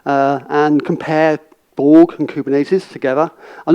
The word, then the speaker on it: Kubernetes: outside I will be teach you how to pronounce kubernetes kubernetes it's a kind of Japanese word I'm using